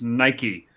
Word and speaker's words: Nike: I was like, it's Nike, like the Greek goddess. And they were like, cool, just hop on your bikey and go down the road to your Nike store then.